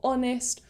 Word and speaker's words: honest: to these rules are words that start with a silent h so for example words like honor or honest or hour so instead of saying a hour because it's a silent h it would technically start with an o so the vowel so we'd say an hour or we would say